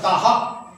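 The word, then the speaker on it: তাঃ: তাহা। তাহা নয়, তাহা। মানে এখানে যে কার থাকবে সেইটাকে টেনে হা করে দেবো। সাহ, সাহা, সিহি, সুহু, সেরকম তাহা। ঠিক আছে?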